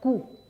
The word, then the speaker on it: coup: force is called a coup okay just who the P is silent no P there and then this one